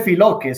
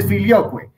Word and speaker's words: filioque: Salvador, no se dice filoque, se dice filioque, ¿cierto? Se dice filioque, entonces para que pronunciemos bien esas palabras latinas.